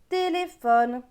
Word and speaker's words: téléphone: a le mot téléphone le ph se prononcent feu donc téléphone est en dessous on